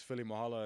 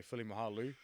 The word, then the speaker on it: Filimoehala: meant a lot when my name is Philly Mahala and they say Philly mahalu it sounds bit weird makes me feel like